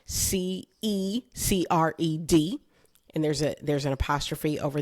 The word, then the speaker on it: Cecred: Now, I don't know if you know this, but I am titling this episode A Cecred Tortured Poet.